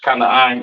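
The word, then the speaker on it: כנען: Or Canaan in the Hebrew. Excuse me, Canaan in the English, Kanaan in the Hebrew.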